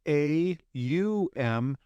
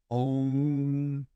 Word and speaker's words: Om: the sound om now it's either pronounced a u m M or om depends on what region of the world that you're in this is called the